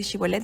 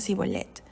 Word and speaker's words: Shibolet: eran fácilmente identificados porque para ellos era difícil pronunciar la H entonces en lugar de decir shibolet decían zolet y hay historias de